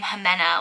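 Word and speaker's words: Ximena: that you don't really, that's like the name Jimena, like it's like you spell it with an X, and it's really unique and interesting.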